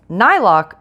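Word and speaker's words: Niloak: Okay, so in the very first line, it turns out I was pronouncing it wrong. It's Nylock Pottery.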